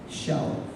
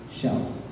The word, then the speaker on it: xiao: There's a special term for us in Chinese which is called xiao. Maybe you can spell that as S-H-I-A-O in China pronunciation.